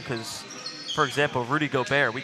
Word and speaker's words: Gobert: That's French, and he's from France. I'm not saying you call him by the wrong or right name. I'm saying the pronunciation is different. That's what I'm saying. We don't call him Gobert. We call him Gobert. The letters make different sounds.